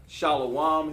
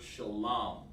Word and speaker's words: shalom: Hey, listen, we don't use Shalawam here. You want to know how to pronounce that word? Just want to help you out here, okay? You're welcome to join class, but we use the word shalom.